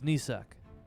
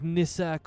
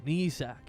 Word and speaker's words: Nisak: wonderful my name is nisak nisak uh yes am i getting the accent right you can say it like like nissac or nissac it's it's either way i understand that's